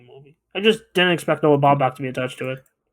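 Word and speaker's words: Noah Baumbach: Noah Bombach. Yeah. He's a good script writer. That's how you pronounce that.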